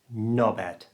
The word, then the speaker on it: knobhead: Notice we don't pronounce the H and we squash it all together so it just sounds like knobhead.